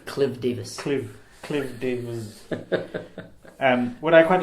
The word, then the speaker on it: Davies: People insist on pronouncing it Davies, but because it's with the E, right? But my family's just always been Davis. Always Davis, Davis. I'm pronouncing it wrong. I apologize. And any other family I know with the Davis with the E, in Wales at least, is always Davis.